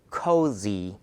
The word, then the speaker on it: cozy: 발음할 때 Z사운드니까 아래니 뒤에 혀가 살짝 위치를 해 줘서 요런 느낌이에요. 코зи 코зи 야.